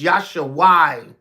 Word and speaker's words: Yeshua: That's Yeshua. That they pronounce it in the modern Hebrew, but it's Yasha in an ancient paleo.